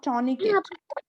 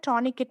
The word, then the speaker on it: tourniquet: Okay, this is called टॉर्निकेट। Okay, this called टॉर्निकेट। टॉर्निकेट, tonic के भी बोला जाता है, टॉनिकेट भी बोला जाता है, दोनों प्रोनाउंसिएशन ठीक है।